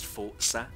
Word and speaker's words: Forza: you know I know the proper way to pronounce is Forza but yeah I'm going